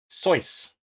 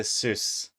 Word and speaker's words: Seuss: Seuss is Seuss. As in rhymes with voice. Dr. Seuss is the original pronunciation, not Dr. Seuss.